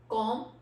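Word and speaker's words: comb: करना है फिर जरूर don't pronounce be after M अगर एम के बाद हमारा बी आता है तो वहां पे हमने इस अबी को प्रोनाउंस रहेगा वो हमारे एम के बाल आया तो हम लोगों ने उसमें बी को प्रोनाउंस नहीं करना कॉम इसमें विल ड्रॉप भी सो हमारा बट क्या बनता है सी ओ एम कॉम next word इस बम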